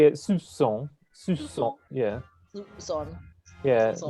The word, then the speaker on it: soupçon: Any C with a cedillo, and that's the little thing at the bottom, is pronounced like an S. Like français. Where's the P for? Soup. It's No idea. it's a silent P, but it's because it's a French word.